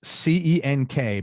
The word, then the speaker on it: Cenk: It's C-E-N-K, but it's pronounced Cenk.